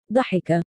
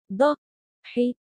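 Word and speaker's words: ضَحِكَ: For an illustration, if we add the kasra marks to the letter in the middle of the word, here is how it will be pronounced. Such as ضحك. ضحك.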